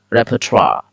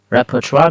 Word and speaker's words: repertoire: what we pronounce let's pronounce let's learn to pronounce together uh rappertra yeah repertoire rapper trial repertoire means all music or plays etcetera that you